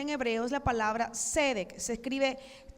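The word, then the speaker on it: tzedek: la palabra justicia en hebreo es la palabra cedec se escribe t Z e d e k tiene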